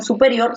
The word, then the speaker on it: superior: Entonces me doy cuenta que la fuerza de voz en superior se encuentra en la última sílaba, en erior.